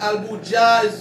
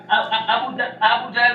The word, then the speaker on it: Aboul Dja: qui disent Aboul Dja, il y a des gens qui disent Albou Dja, Non, Aboul Dja, vous finissez pour Facebook, c'est alias.